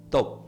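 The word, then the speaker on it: טוב: Entonces, ¿qué significa la palabra bien desde la palabra bien significa desde el hebreo, se pronuncia conmigo top.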